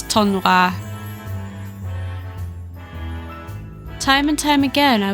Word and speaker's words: tournoi: Yeah, I've been pronouncing tournament wrong in French. It's tournoi.